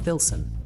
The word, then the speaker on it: THLSN: So previously at Cafe Neckbeard in Chicago's renowned the historic Logan Square neighborhood or thlsn pronounced thilson like Pilson but with a t and an h stands an institution unlike any other.